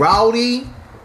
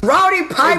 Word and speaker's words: Roddy Piper: Rowdy. No. You gotta say it right. It's Roddy Piper.